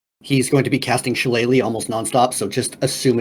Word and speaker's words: Shillelagh: He's going to be casting Shillelagh almost nonstop, so just assume it's done all the time. I didn't know Shillelagh was a spell.